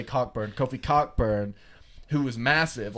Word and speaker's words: Cockburn: He is pronouncing it Coburn, but I'm going to say Cockburn.